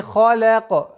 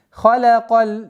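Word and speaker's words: خلق: Раббика лази халяка. Ха твердый звук, лям мягкий звук, каф твердый. И поэтому нужно обращать внимание, чтобы халяка. Нет. Халяка. Халяка.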